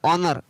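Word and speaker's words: honour: एस ओ एन ओ यू आर, ऑनर।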